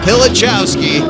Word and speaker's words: Pilichowski: Now the only pickup in the field, David Pilichowski, pronounced like it's spelled.